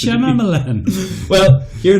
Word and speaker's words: Shyamalan: That's not how you pronounce his name. M. Night Shyamalan. Shyamalan. That's not how you pronounce it. Shyamalan.